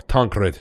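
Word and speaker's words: Tancred: about a kid named tankred or tankred as his name should be pronounced and you'll uh one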